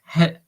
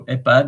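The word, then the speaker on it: EHPAD: you would have pronounced haad I know but in French you don't pronounce the h so epad is like there is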